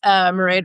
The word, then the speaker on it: Mairead: Mairead rhymes with parade, and I live in Denver, where I'm a teacher and a writer.